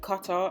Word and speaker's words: cutter: might hear me say cutter and sometimes I might say cutter. It's some weird thing that English people do where we just don't pronounce the 2 T's in the middle of a word.